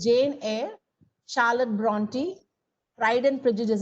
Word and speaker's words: Jane Eyre: Many pronounce it as Jane Eyre. It's Jane Eyre, Charlotte Bronte, Pride and Prejudice.